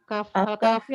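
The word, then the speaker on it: الكهف: Baca surat apa? Surat Al-Kahfi. Katanya kemarin nggak boleh Ustaz dibaca. Nggak boleh. Ya harus Al-Kahf. Suratul Kahf.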